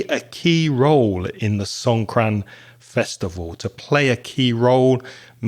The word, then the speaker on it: Songkran: Songkran, S-O-N-G, like song, and K-R-A-N, one word, Songkran.